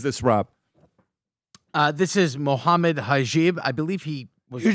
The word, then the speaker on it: Hijab: This is Mohammed Hajib. I believe he was on the podcast before. Pronounce his name, Chris. Hijab.